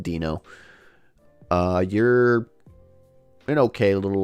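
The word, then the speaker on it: Deino: else there so uh dano dino i think it's pronounced i think it's supposed to be pronounced dino uh you're an okay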